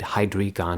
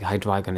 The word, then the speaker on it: Hydreigon: um I'd like read the guy's name and pronounce it in my head hydrion not hydron but I know it's like hydron is the way you're supposed to say it